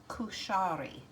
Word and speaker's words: kushari: up in Google Translate how to say the name of this dish, and it is kushari.